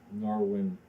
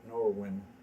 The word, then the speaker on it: Norwine: end this is you're going to say Norwine OMS stories. You look right at the camera and just almost yell it. It's not Norwine.